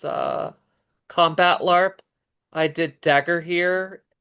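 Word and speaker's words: Dagorhir: I did dagger here. It's spelled d a g o r h i r. Dagger here.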